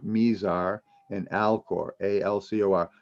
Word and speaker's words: Mizar: dipper the two stars names are mira sorry i take that all back misar and alcor m-i-z-a-r mesar and alcor a-l-c-o-r not